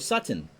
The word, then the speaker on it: Sutton: the hits off of Sutton or Sutton which rhymes with mutton but I wouldn't want